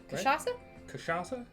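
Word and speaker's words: cachaça: heard that I have I think it has kashasa in it right or I feel like I'm sorry yes kashasa who's saying it right are we saying it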